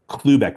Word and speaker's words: Klubeck: I'll say it again. Clueback. Like get a clue.